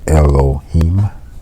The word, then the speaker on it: Elohim: The word God is Elohim, pronounced Elohim, which is a compound unity of one made up of many.